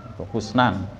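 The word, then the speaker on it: حسنا: tadi bacanya kita wakulas Husnan kan bukan Hasanah ya Husnan Wafi qiraati dalam sebuah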